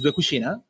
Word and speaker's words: Dué Cucina: The name of the company is Dué Cucina, and you said it right.